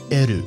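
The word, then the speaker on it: エル: So L is eru, and R is aru.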